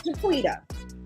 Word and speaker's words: Jaquetta: Is it Jaquetta or Jaquita? I don't know how to pronounce that. It's Jaquita.